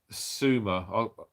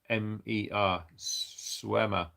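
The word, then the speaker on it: Seumer: and that is from sumer i'm butchered your name is s-e-u-m-e-r swemmer um so yeah thanks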